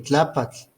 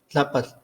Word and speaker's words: Tlaapatl: Entonces aquí aparece en este nombre el alargamiento vocálico en tlápatl, porque no es lo mismo decir tlápatl que decir tlápal, que se escucha